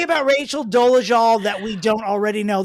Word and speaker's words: Dolezal: We are speaking, of course, of Rachel Ann Dolezal, because that is how it's pronounced. It is Dolezal.